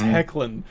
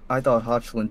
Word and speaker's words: Hecklin: Now I know it's Hecklin. Oh my God. I thought Hotchlin too, because I was like looking at his last name and I was like, oh, I think this is how you pronounce it. That's how I was gonna pronounce it.